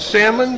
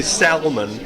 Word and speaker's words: Salmon: is it pronounced salmon? Just yes, like a fish. Just like the fish, because I'm always tempted to say salmon, because that's the way it's spelled.